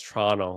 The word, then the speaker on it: Toronto: I just think that it's awesome that you pronounce Toronto like a true Canadian, where you don't pronounce that last T. Or just slur it and just slur it right out. Like it all becomes one thing altogether. You don't. True Canadians do not pronounce the last T in Toronto.